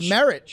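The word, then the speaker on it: Merritt: It's merit. Merit. Right? 2 R's and 2 T's, but that's a different word. It is. But Yeah, but also, it sounds like the word.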